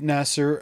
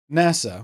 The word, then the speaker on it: NASA: kind of melt so instead Nasser are making an aluminium balloon well except it's NASA which is the American Space Agency so of course we should pronounce it how they will pronounce it